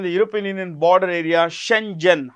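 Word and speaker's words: Schengen: will fully join the European union border area Shenzhen how do you pronounce this shenen shenen please remember this shenen area on 1st January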